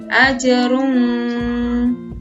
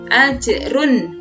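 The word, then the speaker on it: أَجْرٌ: woi nah cara membacanya cara membaca tanwinnya yang ada pada huruf ro harus dibaca dengan jelas jadi tidak didengungkan bukan ajrum kan tapi ajrun woi woi hukum bacaan selanjutnya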